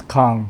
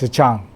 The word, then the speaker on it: Kahng: So last name is Kahng, but it's pronounced in Chinese Zhang.